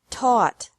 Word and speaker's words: taught: Teach, taught, taught. Think, thought, thought. Remember that the G is silent in these verbs.